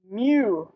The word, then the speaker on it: mu: is the greek letter mu which is pronounced like a little kitty cat okay and you want